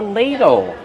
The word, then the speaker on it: ladle: Use a long a sound like pay and say. Lay. Ladle. Use a fast d and a short sound like in table.